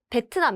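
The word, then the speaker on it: 베트남: vietnamese but this vietnam petunam that's how korean people pronounce this language and also country 2 petunam petnam is the name of the country vietnam spain ilbuna please remember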